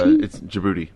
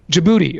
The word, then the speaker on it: Djibouti: Reunion Islands Mali Bolivia Yemen how do you pronounce the next one did you book Djibouti Djibouti okay Djibouti I apologize to our Djibouti listeners